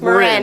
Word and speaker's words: Marin: It's Marin. Yeah, like the county.